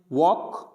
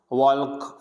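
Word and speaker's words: walk: वॉक, Fock, यानी L नहीं पढ़ेंगे, ऐसे नहीं पढ़ेंगे टॉलक, वॉल्क, फॉल्क, यानी टॉक, L क्या रहेगा, साइलेंट रहेगा।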